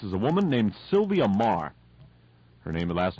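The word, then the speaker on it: Meagher: The author in this case is a woman named Sylvia Marr. Her last name is spelled M-E-A-G-H-E-R.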